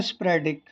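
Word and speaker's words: sporadic: ठीक है, और इसका जो प्रोनाउंसिएशन है वो है स्प्रेडिक।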